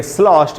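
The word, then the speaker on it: sloshed: धुत को बोलते हैं slost ये जो दी है दोस्तों इस दी से दर नहीं बनेगा टी का साउंड बनेगा स्लॉट ये उच्चारण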